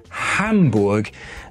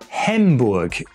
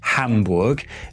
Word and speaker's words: Hamburg: Some will go on to tell me that the syllable ham rhymes with the English word hum, but when I listen to native German speakers, that's not at all what it sounds like.